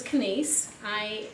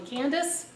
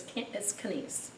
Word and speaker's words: Canice: Hello, my name is Canice, which rhymes with Denise. There's no D in Canice. A lot of people call me Candace or Denise, but it's Canice.